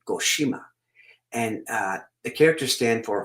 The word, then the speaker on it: Goshima: However, Colonel Goshima's family chose Goshima, not Goto.